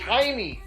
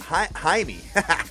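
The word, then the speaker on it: Jaime: your pronunciation dictionary kid it's haime haime haime Garcia haime Garcia my bad I I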